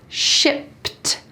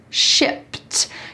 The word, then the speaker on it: shipped: shipped first the pronunciation notice that at the end there is a t sound shipped shipped usually we use the